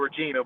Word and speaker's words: Regina: It's spelled Regina, but they say it Regina.